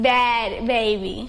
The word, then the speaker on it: Bhad Bhabie: hm they're right Behav bad baby same way you're supposed to be baby Bab why bet it's just I spell it different the same way are